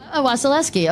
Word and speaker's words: Wasilewski: And speaking of that, Adam Wasilewski, I'm going to say it wrong. Wasilewski. Okay, great. I'm doing it right.